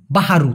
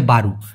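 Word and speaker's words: baru: নতুনকে মালয়েশিয়ান ভাষায় বলে বারু যদিও অনেকে বইয়ের ভাষায় বাু বাহারু তবে অতটা পদমার্কা ভাবে খুবই কম মানুষ বলে ভাই সিম্পলি বলে হচ্ছে বারু বারু মানে নতুন অথবা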